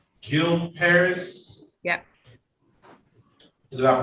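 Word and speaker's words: Gil Peris: e r i s it's my last name Jil Paris yeah did I pronounce that correctly yeah good morning to hi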